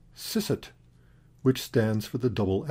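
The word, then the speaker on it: Eszett: So, for example, German has a letter pronounced sisset, which stands for the double S.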